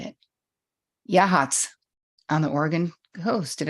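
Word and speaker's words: Yachats: Yahats on the Oregon coast. Did I say it right, Yvonne? Yahats?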